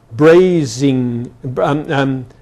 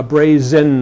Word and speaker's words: brazen: And brazing. What's it? Brazing, a brazing hussy instead of a brazen hussy, and badminton instead of badminton.